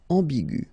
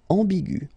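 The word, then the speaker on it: ambiguë: Another example is ambigu, and it will become ambigu. Okay, so you don't modify the way to pronounce them.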